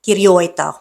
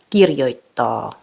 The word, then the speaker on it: kirjoittaa: And lastly, the stress is on the first syllable, meaning these words aren't pronounced Helsinki, tavara, kirjoita. Should be Helsinki, tavara, kirjoittaa.